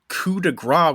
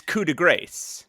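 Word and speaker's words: coup de grâce: However, Pat's pronunciation of coup de grace with the silent CE at the end of grace, is a common mistake that I feel obligated to correct because I'm still an annoying pedant.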